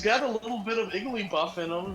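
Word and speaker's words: Igglybuff: a little bit of Iggly buff in him, then igly gosh, I said it wrong. Uh, Iggly D. Yeah. No, it is Iggly Buff.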